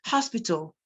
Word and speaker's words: hospital: So for example, some people say hospital, and the H is pronounced. It is hospital.